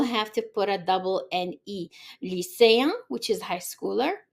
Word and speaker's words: net: So in the example for masculine is gonna be ne, so the T is silent.